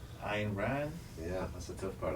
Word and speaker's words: Ayn Rand: How do you pronounce her name? Ayn Rand.